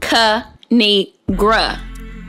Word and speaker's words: Kinigra: me tell y'all a thing of three it's pronounced cu need gru now subscribe oh i crack myself up thanks